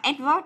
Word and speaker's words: advert: Nhớ đọc được là advert nhớ chưa? Advert không đọc là advert đâu mà là advert.